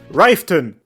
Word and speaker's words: Riften: Next up, get yourself a mod called Riften. That's how you pronounce it.